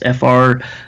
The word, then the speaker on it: Freund: I think it's like, I can spell it, but it's like Freund or Freud. It's Freund. Freund.